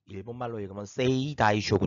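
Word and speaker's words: 征夷大将軍: 정확히 말 하자면 , 정식 명칭 은 세이 이 타이쇼군 입니다 . 일본어 로 읽으면 " 세이 이 타이 쇼군 " 입니다 .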